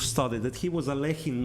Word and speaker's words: Alekhine: this campaign was started that he was a lacking not eloheem for some reason it's kind of a more